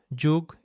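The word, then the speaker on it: 죽: The first sound in the word juk is written like this in Hangul. It's the same syllable as gug, which we studied earlier, but here we're replacing the first consonant with this one that represents the J sound in English.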